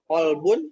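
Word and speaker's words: قلب: Kalau misalkan pakai kak, kalbun artinya dogi. Kalau pakai kof, kolbun bisa jantung, Hati. bisa hati. Ya, manajemen kolbu. Manage hati, bukan dogi ya.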